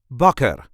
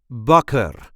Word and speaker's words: bakker: is how we say bucker bucker there is a light emphasis on the first syllable bucker Buck bucker the